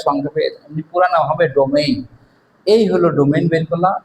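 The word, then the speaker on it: domain: আসলে ডোমেইন হবে, বানানটা এমন, ডো এম এ আই এন, ডোমেইন।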